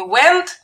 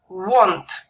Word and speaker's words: want: я хочу Обратите внимание Как слово want читается не went а want это очень важно все